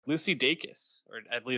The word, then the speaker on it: Dacus: I looked up an interview she did, and she said Dacus, so I Uh, think that's right. I'm gonna trust Lucy Dacus on pronouncing her name correctly.